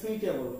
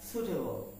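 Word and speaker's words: suitable: টি এ বি এল ই আমরা এটাকে বলি সুইটেবল কি বলি সুইটেবল কি বলি সুইটেবল কিন্তু উচ্চারণটা সুটেবল সুটেবল উচ্চারণটা কি সুটেবল ওকে তার মানে এটা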